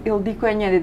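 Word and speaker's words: Ildikó Enyedi: I pronounced your name Ildiko Enjede.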